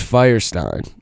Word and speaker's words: Feuerstein: real bad no it's Firestein so it's like well one time it's Firestein Firestein yes so it's actually like German oh I think it's pronounced like Feuerstein or I mean when